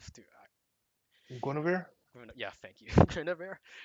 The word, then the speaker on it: Guinevere: yeah, thank you, Guinevere.